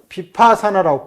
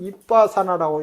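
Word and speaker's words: 위빠사나: 그래서 사유를 뭐라고 부르냐면은, 비파산화라고 불러요. 물론 원어는 이빠산화라고 이렇게 발음이 더 가까운데 우리나라 국어 문법적 표기, 예리한 표기법에는 비파산화라고 이렇게 부르는 거죠.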